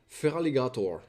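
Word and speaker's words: Feraligatr: It It's feral. Feral and alligator. Feraligator.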